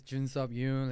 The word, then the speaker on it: Jun Yoon: the record yeah like my name is Jun Yun it's pretty hard to pronunciate it just you can call me June but in Korea do